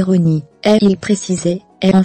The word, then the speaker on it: Rani: Rani, qu'il faut prononcer Rony, et il précisait, est en fait un hommage à Ron, le père du musicien Danny Fujikawa, papa de la fillette.